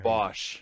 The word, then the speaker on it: Bosch: Bosch.